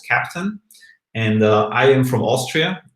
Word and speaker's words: Keptn: We speak German, and for us, Keptn actually really sounds like captain, like the captain of a ship. And that's also a little bit of the background of the name. Then it's spelled with the K, so for Kubernetes.